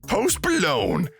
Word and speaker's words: Post Malone: Post Malone. The G is silent.